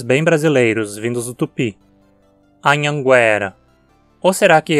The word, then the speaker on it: Anhanguera: agora chegamos nomes bem brasileiros vindos do Tupi Anhanguera ou será que é Anhanguera a palavra Anhanguera existe no português com essa pronúncia né como uma paroxítona Anhanguera é a